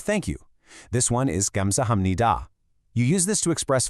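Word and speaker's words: 감사합니다: Even though that third syllable is written with a P sound, when you speak it naturally, it completely blends into an M sound.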